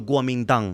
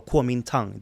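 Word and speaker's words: Kuomintang: Republic of China or the Guam dang as as they are known or KU Tang depending on what sort of uh pronunciation you're looking for then for the between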